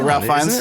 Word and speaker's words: Ralph Fiennes: Oh, Ralph Fiennes? Yeah. Ralph Fiennes, though, isn't it? He did it again. Yeah, Ralph Fiennes. Fuck you guys. That's how it's spelled, but he pronounces it Ralph Fiennes.